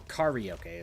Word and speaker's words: karaoke: It's a song that he sings for karaoke, or karaoke is how it's supposed to be pronounced.